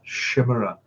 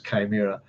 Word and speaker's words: chimera: um Dungeons and Dragons, I always pronounced it as a Shimmer. Uh it wasn't till many years later I find out it was Chimera. Um but I always quite like the Shimmer.